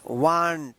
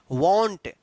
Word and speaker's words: want: तो देखिए यहाँ पे रूल क्या है कि अगर ए से पहले W आता है तो इस ए का क्या उच्चारण होगा? औ उच्चारण होगा, ठीक है। यहाँ पे क्लियर? तो यहाँ पे इसको क्या पढ़ेंगे? वांट पढ़ेंगे। वांट। वांट का मतलब होता है चाहना। जैसे हम लोग पढ़ते हैं ना वांट, WANT, वांट। वांट ये गलत उच्चारण है, इसका सही उच्चारण है वांट।